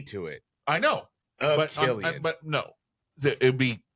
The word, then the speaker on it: Cillian: It would be Killian. And, No, that's like and that's how my brain would process that a CI in my mind is S, Yeah. but it's pronounced K.